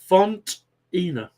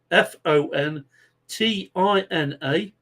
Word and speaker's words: Fontina: I'm going to spell that out for you because people say idiot. That's not how you pronounce it. Fontina. as in fo n t i n a f o n t